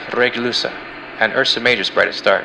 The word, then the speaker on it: Regulus: Leo's brightest star is pronounced Regulusa, and Ursa Major's brightest star is pronounced Alioth.